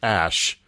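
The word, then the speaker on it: X Æ A-Xii: Apparently, it's pronounced Ash, because you don't have to be in a cult to be stupid.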